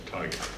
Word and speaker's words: Tiga: And finally I said, why do you keep saying Tiga when I'm telling you it's Tiger?